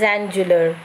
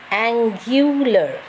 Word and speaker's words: angular: written here a-n-g-u-l-a-r so anybody can say it is angela or angular but see the actual pronunciation it is given angular g-y-u-u-l-er so it is angular okay so it's very